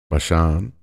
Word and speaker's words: Bashan: Does the noun Bashan have, that's kind of how you would pronounce it in Hebrew, does it have a meaning in addition to the place?